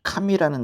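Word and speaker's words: 神: 하나님 할 때 카미는 이렇게 카미 이렇게 내려가요.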